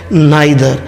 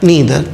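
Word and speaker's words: neither: ये नीदर भी होता है, नाइदर भी कहलाता है, तो आप इसे नीदर और नाइदर दोनों प्रोनाउंस कर सकते हैं। ये एक्सेंट, ये जो प्रोनाउंसिएशन है इंडिया में एक्सेप्टेड है नाइदर, लेकिन इसका सही उच्चारण है नीदर।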